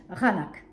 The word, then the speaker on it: Qaanaaq: Et le premier tome s'appelle Raanak. Ça s'écrit Q, ouais, comme vous voyez là affiché, avec un Q, mais ça se dit HR. Le Q se lit HR dans le Groenland.